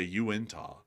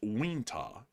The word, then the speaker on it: Uintah: You would say Uintah, but it's Wintah.